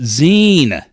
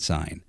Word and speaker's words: zine: the first episode of It's pronounced Zen not sign um next time I'm